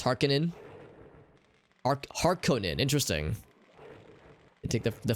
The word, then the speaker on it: Harkonnen: So it's Harkonnen. Harkonnen. Interesting. I take the former pronunciation.